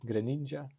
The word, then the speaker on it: Greninja: How do you pronounce his name again? Greninja?